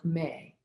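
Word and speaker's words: MEH: especially the vowel sound may spelled m-e-h and pronounced like the month of may and this really helps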